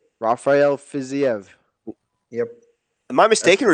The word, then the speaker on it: Rafael Fiziev: The fight that I'm really looking forward to is Bobby Green and how do you pronounce? What is it? Rafael Fiziev. Rafael Fiziev.